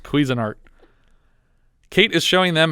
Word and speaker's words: Cuisinart: video i wasn't listening it's pronounced cuisinart kate is showing them